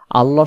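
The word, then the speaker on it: الله: আমরা পাবো কোরআন মাজিদে আল্লাহ শব্দের ক্ষেত্রে লাম অক্ষর মোটা হবে আর লাম অক্ষর কখন মোটা হবে আল্লাহ শব্দের ডানদিকে যখন জবর হয় আল্লাহ শব্দের লামটাকে মোটা করে পড়তে হয় উচ্চারণ হবে আল্লাহু আল্লাহু আর যখন এমনিতে স্বাভাবিকভাবে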